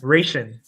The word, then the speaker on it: Reyshan: Reyshan. Reyshan? Okay. Just say it fast. Say it like Russian.